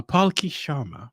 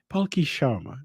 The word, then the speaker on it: Palki Sharma: for me to pronounce but don't worry i'll pronounce her name right uh palki sharma palki palki sharma right yeah haiki she's right absolutely she is